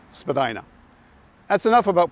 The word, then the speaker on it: Spadina: parts continue to pronounce it Spadina but in the end the mispronunciation won out Spadina House museum is pronounced the original way but pretty much everyone else calls the street Spadina that's enough about pronunciation